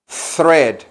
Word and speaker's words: thread: hilo se le llama thread thread con th por eso suena así thread como el número tres Cómo se dice tres